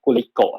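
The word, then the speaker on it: Glico: ครับเป็น จี้ Li co ทำไม เรา อ่าน ว่า กูลิโกะ ยิง เป็น ตรีโกะ มาก กว่า นะ ซึ่ง มัน แถม มา จาก คำ ว่า ไกลโคเจน คือ Gly cogen มัน ก็ มัน ก็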